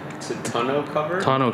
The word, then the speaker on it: tonneau: How do you pronounce it? Tonneau cover. Tonneau cover.